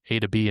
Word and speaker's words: atob: That's how you pronounce it. It's A to B and B to A.